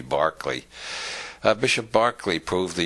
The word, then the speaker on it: Berkeley: George Barkley after whom the city of Berkeley is named because Americans don't know how to pronounce it Irish names it should be Barkley uh Bishop Barkley proved